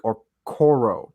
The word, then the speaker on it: Okoro: This player is none other than Isaac Okoro. Did I pronounce that right?